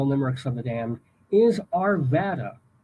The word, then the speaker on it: Arvada: But anyway, the city of the day for Colorado Limericks of the Damned is Arvada, or you might want to pronounce it Arvada, Arvada.